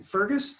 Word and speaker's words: Fergus: But she grew up in Fergus, did I say it right?